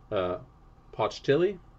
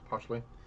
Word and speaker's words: Pochtli: Their leader, Pochtili, am I pronouncing that right? Pochtli? Yeah, Pochtli.